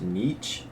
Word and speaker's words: Nietzsche: The next guy's a German guy, and I believe it's pronounced Nietzsche.